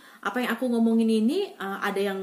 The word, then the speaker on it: ja: di sini juga bilangnya ya. Kalau bahasa Inggris kan yes ya, kalau di sini bilangnya ya, karena mereka J itu dibacanya Y, jadi mereka tulisnya ja, tapi bacanya ya ya, sama dengan kita, kita